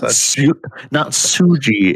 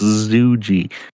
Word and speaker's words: Zuji: Saved from not Suji, it's Zuji.